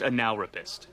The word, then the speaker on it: Analrapist: business card no no it's pronounced analist it wasn't really the